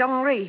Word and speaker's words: Henri: He pronounces it Henri.